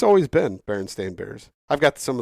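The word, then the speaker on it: Berenstain: one huh how about uh how about the Burnstein bears and and it's actually Baron stain Bears yes it is Baron it's always been Baron stain Bears I've got some of the OG books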